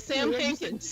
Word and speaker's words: Sam Hankins: Did I say that right? Sam Hankins. You said right. Yeah, you said it right.